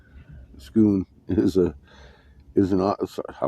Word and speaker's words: Scone: Destiny um it's uh the stone of scone pronounced scone scoon is a is an I was pronouncing it